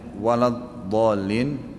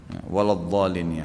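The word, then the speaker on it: وَلَا الضَّالِّينَ: berjamaah mendengar Imam bacanya walad doolin walab dolin dibaca ya sedang dalam al-qur'an saya lihat tidak ada huruf ba bagaimana solusinya ya yang saya tahu tetap dibaca Dod ya waladolin ya Bolehkah salat tahiyat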